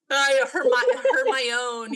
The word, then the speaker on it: Hermione: Hermione.